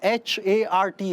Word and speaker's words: Hart: Well, actually, my name is H-A-R-T, Hart. Yes. In that, the E is silent and invisible.